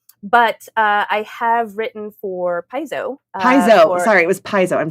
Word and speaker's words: Paizo: Amber, do you know that like for 15 years I did not know how to pronounce Paizo? How did you say it? Piazzo.